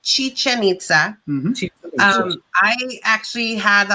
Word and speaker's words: Chichen Itza: school um super awesome stuff so it is pronounced chichen itza um i actually had the opportunity to go